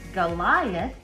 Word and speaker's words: Goliath: Goliath and giant both start with the letter G, but they have different sounds. Goliath starts with a hard G. It says G, G, G. And giant starts with a soft G sound. It says J, J, J.